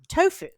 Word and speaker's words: tofu: And speaking of sacrilege, tofu. Tastes just like meat. Or how do you pronounce it?